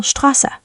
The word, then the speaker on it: Straße: Now ST and SP at the beginning of a word often start with st and sp. For example, Straße, street, begins like Stra, and Sport, Sport, begins like Sport.